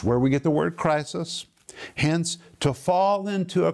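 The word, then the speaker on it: κρίσις: the greek word condemnation it is literally pronounced crisis and it is where we get the word for a crisis situation it depicts judgment it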